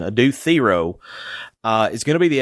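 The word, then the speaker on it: Adou Thiero: I'll go back to this Adu Thero. Thank you, Carolyn Williams, for correcting me on the pronunciation. Adu Thero is going to be the X factor.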